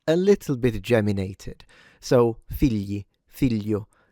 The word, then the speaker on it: figli: So, never gli, okay? It's not figli, it's figli, figli.